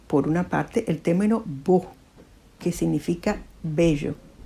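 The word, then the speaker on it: S.K.beau: a u minúscula todo que se pronuncia Bo el vocablo resulta equívoco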